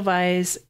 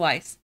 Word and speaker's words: Weisz: the favorite this week with Olivia Colman Rachel vice and my pronouncing her name right yeah Rachel Weisz and Emma Stone Emma Stone and Joe Alwin